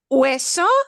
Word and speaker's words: hueso: Hueso se escribe con H. Hueso is written with an H. You don't hear the H, of course.